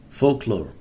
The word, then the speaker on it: folklore: Tradition, folklore, tradition, folklore. Historical convention, folklore. This L is silent. Folklore.